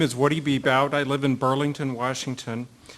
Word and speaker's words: Bebout: The first testimony will come from Woody Babout. Did I pronounce that right? Bebout. Got it wrong. Former Skagit Harley-Davidson worker, IAM District 160. My name is Woody Bebout.